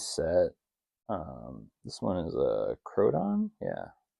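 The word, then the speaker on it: Koraidon: This one is a Crodon, yeah, Crodane, or Crodon, yeah. However you pronounce it on the front pack. See if it says on the thing. Legendary Pokemon. Yeah, Koradon.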